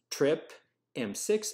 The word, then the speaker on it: TRPM: is via two channels trip m6 and trip m7 so trpm is pronounced trip m and the full name